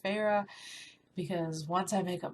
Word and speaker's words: Feyre: Looking at it, I thought it was pronounced fire, so I probably could have gone through this whole book thinking like fire the whole time, even though her name is pronounced Feyre, because once I make